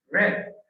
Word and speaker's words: read: Pero en pasado la pronunciación cambia. Red, como te digamos rojo en inglés.